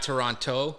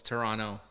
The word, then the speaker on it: Toronto: We say Toronto with a no at the end. Toronto, So it's not Toronto. It's Toronto. Toronto.